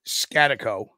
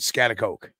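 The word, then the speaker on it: Schaghticoke: So there's two proper ways of saying this. The old timers will pronounce it Scatico. Scatico. Right? And some other people will pronounce it Scatacoke.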